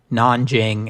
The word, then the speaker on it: Nanjing: although in our day, we spell and pronounce them Nanjing and Beijing, which are closer to the Chinese pronunciations.